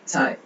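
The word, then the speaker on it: 菜: ஸோ இந்த C இதை நம்ம ப்ரொனவுன்ஸ் பண்ணும்போது இந்த சவுண்ட்ல ப்ரொனவுன்ஸ் பண்ணுவோம். சாய், சாய், சாய், சாய், சாய்னா டிஷ், உணவு.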